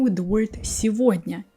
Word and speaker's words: сегодня: Sometimes instead of g, we say v. When it happens, you all know such words as его, сегодня. Here you always pronounce g like v.